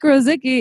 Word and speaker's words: Rosicky: not sticky no wait it rhymes with so sticky so Rosicky is so sticky welcome really happy